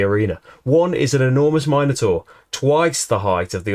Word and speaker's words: Minotaur: survive a fourth and you pronounce it minor tour as well minotaur definitely minotaur you sit down to observe